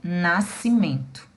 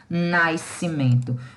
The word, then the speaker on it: nascimento: Então, a pronunciazinha desse S aqui, ela não existe, tá? Eu vou falar corretamente nascimento e não nascimento.